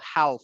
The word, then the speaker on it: half: No, no, we don't pronounce the L, half.